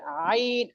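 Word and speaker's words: عين: যখন আপনি উচ্চারণ করবেন তখন আপনার গলার মধ্যখানে একটা ঢেউ ঢেউর মতন হবে আইন আইন আইন আইন আইন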